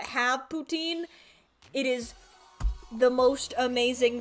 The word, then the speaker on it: poutine: No, not Putin. Poutine.